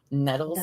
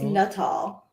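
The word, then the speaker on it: Nuttall: The only word Nutal nettles. Nutal. It's Nutal. Like just like it's spelled.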